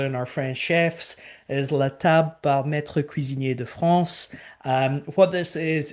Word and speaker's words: La Table par Maître Cuisinier de France: the only one in the company that can pronounce this correctly other than our French chefs, is La Table par Maître Cuisinier de France.